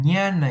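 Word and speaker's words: jnana: Y el último y el último de estos yo de estos yoga es el ñana yoga. Ñana se escribe aquí.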